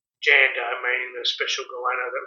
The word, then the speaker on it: Djanda: of that and just keep the name Djanda without the D, because it's a silent D, which I've pronounced incorrectly a fair few times in my videos. So it's a silent D, it's Djanda, and that was my